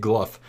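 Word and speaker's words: Glough: glu's first two phases apparently you say it gluff I've been pronouncing it Glow my whole life when I've been doing the other uh gnome quests but apparently it's gluff I've heard the jods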